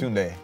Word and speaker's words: Tunde: It's Tunde.